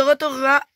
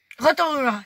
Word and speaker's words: Rotorua: Boue brûlante, les marmites de Rotorua, et c'est situé, checkez ça, Guy.